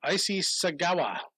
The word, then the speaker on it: Issei Sagawa: Issei Sagawa.